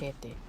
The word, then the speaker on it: cachete: Cachete. Cachete, like machete, but with a ka. Cachetes. Cachetes de chocolate. Cachetes de chocolate. Cachetes de chocolate. Cachetes de chocolates. Okay. Coño. Sonia. Paella. Cachete.